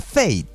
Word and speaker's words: Fate: Y tiene un espacio que se pronuncia Fate.